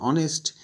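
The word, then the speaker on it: honest: অনেস্ট কিছু word আছে যেগুলো এইচ দিয়ে শুরু হবে কিন্তু এইচের উচ্চারণ হবে না, সেসবের ক্ষেত্রে অ্যান বসে।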